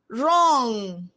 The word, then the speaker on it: wrong: WR, wrong, right. WRIGHT, not RIGHT. Well, letters W is silent.